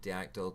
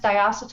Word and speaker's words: diacetyl: air, and someone linked Diactyl to popcorn lung, which is basically COPD. Your lungs don't actually explode, and Diactyl isn't even in most e-liquids today. Yeah, Diactyl. It's pronounced diacetyl.